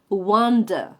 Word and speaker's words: wonder: Esta es muy buena porque fijaos, en inglés la W seguida de O suena como una A. O sea, que maravilla es wonder, wonder.